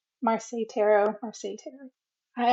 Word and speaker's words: Marseille: believe it's the marsai marseille marseille tarot or satay i i pronounce it like versailles because i've been to